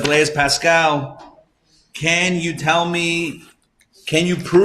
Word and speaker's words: Pascal: But allegedly this happened where it was Louis XIV, King Louis XIV, who turned to Blaise Pascal. Is that how we pronounce his name?